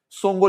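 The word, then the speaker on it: Tsomgo: लेख गुजरात अगली है संगो लेख संगो लेख कहां पर है कश्मीर के अंदर इसमें टी साइलेंट है याद रखना संगो लेक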